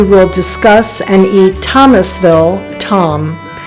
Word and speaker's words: Tomme: least 6 days Tom and the French pronunciation is Tom occasionally spelled t m is a class cheese